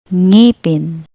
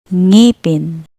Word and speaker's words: ngipin: It's similar to the NG in English words like wing, sang, or ringing.